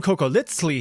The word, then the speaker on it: cocoliztli: If you watched my video about surviving the Aztec Empire, you know that that funny little TL pronunciation, the sound, is on purpose.